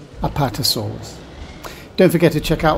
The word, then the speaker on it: Apatosaurus: being a big dinosaur it has an easy name just five syllables it's said like this apart or solas apatosaurus don't forget to check